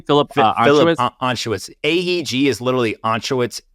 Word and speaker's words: Anschutz: Philip Anschutz?